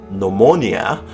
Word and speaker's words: pneumonia: P is silent before a selection of somewhat technical terms such as pneumonia and pneumatic, and it's silent before